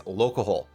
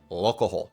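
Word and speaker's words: Lolcohol: Dude number 2 is someone I am friends with, and this is Locahole. Okay, and that's how you say his name, Locahole. I learned only a few months ago how to say it properly.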